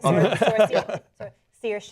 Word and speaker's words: Saoirse: Right, Saoirse.